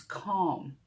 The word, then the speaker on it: calm: Be careful when you pronounce it. It's not calm, it's calm.